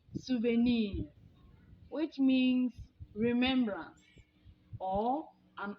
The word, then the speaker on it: souvenir: The original French pronunciation is souvenir, which means remembrance or an object you have bought, an artifact that gives you memories of time past.